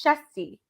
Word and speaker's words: Shezti: try to say his name correctly because it's it's spelled differently than how it sounds so it's chesty right correct all right he is the head